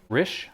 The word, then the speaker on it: Risch: There was a code enforcement officer, his name, Risch, R-I-S-C, Risch? It's pronounced Rich?